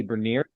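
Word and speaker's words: Beniers: Matty Bernier is how you say it.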